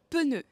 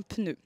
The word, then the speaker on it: pneu: Dans le sud de la France, ils prononcent un pneu, ce qui est totalement illogique parce qu'il n'y a pas de E entre le P et le N. Désolé Mathieu, mais on dit un pneu.